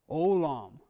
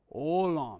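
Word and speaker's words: עולם: Olam. Olam, yes. Ayin is silent. Full holam. Lam. Olam. Two syllables.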